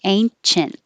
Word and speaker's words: ancient: Ancient, and stop the T, ancient.